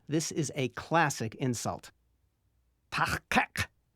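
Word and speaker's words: taHqeq: There's a new sound at both the beginning and end of the second syllable, kek. Be careful. This is not the Federation standard K sound. You make it like a K, but as you did for k, shove the back of your tongue as far back into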